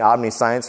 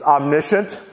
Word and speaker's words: omniscient: about God is omniscient it really looks like omniscience if you spell it looks like omniscience and I didn't know that's how you said it I've been saying omniscience for a long time it's omniscient Mickey apparently knows what this